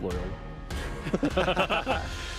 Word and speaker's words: Loyola: And if we're talking about pronunciation, you said Loyola. It's Loyola.